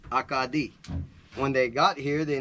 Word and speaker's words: Acadie: Pronounced in French, Acadie.